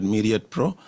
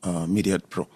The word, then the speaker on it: Myriad Pro: I pronounce it as Myriad Pro.